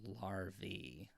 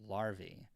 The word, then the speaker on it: larvae: not really denying that but it's larvae if it's plural like I really care um so but I'm trying to say it because apparently I'm teaching everybody incorrect ways to do things with my pronunciation so larvae and um I struck my